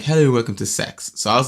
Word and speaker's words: CeX: because the name of the shop is pronounced sex, right?